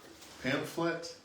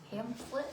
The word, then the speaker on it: pamphlet: Pamphlet. Pamplet.